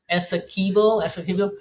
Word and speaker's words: Essequibo: Linda says you got the pronunciation Pronunciation right? correct. Essequibo.